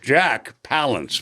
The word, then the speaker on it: Jack Palance: Jack Palance, by the way, is the way he pronounces it.